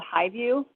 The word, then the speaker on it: Hy-Vu: It's called Highview. I don't know if anybody's familiar with this street. It's really cute in its naming, but it's not spelled how you think it's spelled. It's HY-VU.